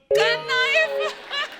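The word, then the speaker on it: knife: मैं चाकू को भी क्नाइफ बोलता हूं। नाइफ। कनाइफ नहीं होता। नाइफ होता है। के साइलेंट रहता है।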